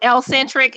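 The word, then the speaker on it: ElleXentric: It is L-centric. It is spelled E-L-L-E, capital X, E-N-T-R-I-C. So make sure that you go ahead, pull that up.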